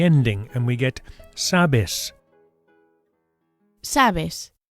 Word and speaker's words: sabes: Sabes. Notice that the stress, the accent here is on the first syllable.